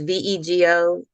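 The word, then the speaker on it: Vego: of Houston called Veo it's Veo it rhymes with Lego although we say Lego but um Birdie's beds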